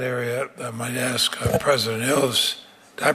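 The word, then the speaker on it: Ilves: Well, I want um on that area I might ask President Ils, did I pronounce that correctly, sir? Ilvis.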